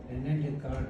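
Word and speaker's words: René Descartes: Coordinate geometry की खोज जो थी वो रेने डेकार्ट है। यहाँ पर एस साइलेंट है, एस दोनों एस साइलेंट है, वैसे ई भी थोड़ा सा साइलेंट है।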